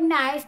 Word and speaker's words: knife: Hey, I ask you, why the word knife got a K at the start? We pronounce knife, right? Not knife, right?